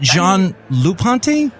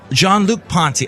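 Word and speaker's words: Jean-Luc Ponty: play his stuff is it John L Ponte I think it's John it's John Luke Ponte John Luke Ponty okay I was throwing a lot in there but I'm sure a French person would pronounce it more Frenchy than I do dang those French with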